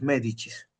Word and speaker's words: Medici: Ya, Medicis se escribe, se pronuncia los medichis.